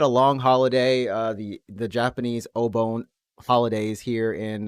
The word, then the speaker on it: Obon: The way that you pronounce it made it sound like Obone or something.